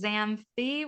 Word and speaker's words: Xanthi: My name is a little bit weird, but it is pronounced Xanthi with like a Shakespearean "the" at the end.